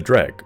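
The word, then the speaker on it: Dreugh: Or the Dreg, and yes, that's how you're supposed to pronounce that word.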